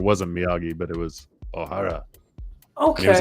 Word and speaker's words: Ohara: a show called oh Ohara Ohara and everyone everyone mispronounced it they all called him O'Hara and he's like it's Ohara but it was basically uh